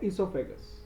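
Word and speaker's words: oesophagus: Yes, spelling O ई है लेकिन उसको बोलते हैं इसोफेगस। ओ ई एस ओ पी एच ए जी यू एस बोलते हैं इसोफेगस बट होता है ओ ई। ओ is kind of silent, एसोफेगस।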